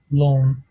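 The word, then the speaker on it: lón: Et quand il s'agit d'une consonne large, le L est prononcé avec le son de L normalement. Par exemple, dans le mot long, long, qui signifie déjeuner, long.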